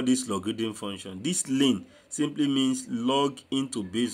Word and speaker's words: ln: We pronounce it as ln, L-I-N.